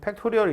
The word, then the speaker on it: 팩토리얼: 기 오른 느낌표 쓰거든요 읽을 때는 팩토리얼 라고 읽어요 f 팩토리 얼이 에요